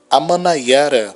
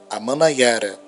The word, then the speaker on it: Amanaiara: Daí o surgimento de Heriutaba, Taba do Heriú, Amanaiara, terra das chuvas. Se escreve A-Man-Na-I-A-Ra, Amanaiara, terra das chuvas.